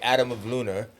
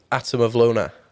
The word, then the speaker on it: Atom of Lunar: different than when I say it I say Adam of Luna you know cuz that's how I spell it pronounce how you how you pronounce the manand atam of Luna oh okay I thought it was different you